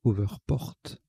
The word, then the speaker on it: hoverport: p o rt alors je rectifie la prononciation c'est over porte on prononce al anglaise donc au vert porte